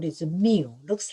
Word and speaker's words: mu: this is we use we call it the mu looks like u by the greek the pronunciation we say is a mu so mu